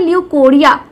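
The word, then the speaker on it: leucorrhoea: बिल्कुल सही होगी तो लुकोरिया को हम आज अच्छे से एक्सप्लेन करेंगे डिस्कस करेंगे हिंदी में हम इसको लिकोरिया भी बोलते हैं अब आज के लेक्चर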